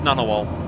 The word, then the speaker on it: Ngunnawal: Usually just pronounced Ngunnawal. But yeah, where you get this sound cluster does not occur in English, or often quite specifically does not occur at the start of words.